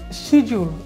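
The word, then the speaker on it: schedule: না জুয়েলারি তারপরে রয়েছে শিজুল আমরা এটা স্কেজুলও বলি শিজুলও বলি তাই না একটা হচ্ছে আমেরিকান আর একটা হচ্ছে ব্রিটিশ তো আপনাদের ইচ্ছা একটা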